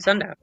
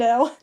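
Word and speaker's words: Sendou: Yeah, it's literally just a case of Sendo. I know. I know it's wrong and I know I pronounce it wrong. It's Sendo. And I try to pronounce it Sendo, but it's just when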